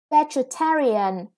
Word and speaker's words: vegetarian: or now yeah and this word is quite hard to pronounce right so you have to pay attention that the syllables the first syllable is stressed your vegetarian and when it is when